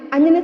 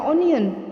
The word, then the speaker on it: onion: Onion itu apa anak-anak? Membacanya bukan onion ya, tulisannya onion, tapi tolong tidak boleh dibaca onion, tapi onion.